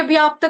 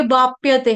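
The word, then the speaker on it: अवाप्यते: बाप्यते बाप्यते बाप्य वाप्यते ये व्याप्त करना नहीं है। ये वापप्यते है। वापप्यते वापप्यते वाप्यते वापप्यते जो आप कह रहे हो वो अलग वर्ड है।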